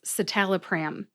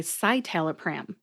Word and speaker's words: citalopram: talk about it and that's satal pram because some people say saal pram and it's actually I believe in the USP dictionary online as Citalopram really yeah who I